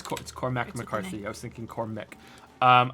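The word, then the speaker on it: Cormac McCarthy: it right I was I was thinking coric but it's not it's cor mcarthy I was thinking corch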